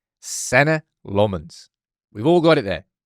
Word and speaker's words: Senne Lammens: Pronounce your name. Senna Lmens. Senna Lmens. Senna Lmens.